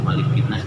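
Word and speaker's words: مَلِكِ النَّاسِ: Maliki yaumiddin yang memiliki di malikinas pendek di malikin Nas mah pendek enggak boleh pan panjang malikin ya malikinas enggak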